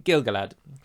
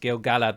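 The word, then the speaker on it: Gil-galad: happens to be Galadriel Kier Dan and um gilgalad I say gilgalad but it should be pronounced gilgalla the show is correct but I'm so used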